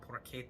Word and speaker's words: porchetta: Pasta grammar uh how to make homemade poretta pora is the pronunciation I've never seen this video you're going